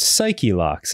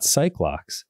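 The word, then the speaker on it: Psyche-Lock: how about that huh I've also been informed that it's pronounced Psych locks and not cycl locks what yeah I don't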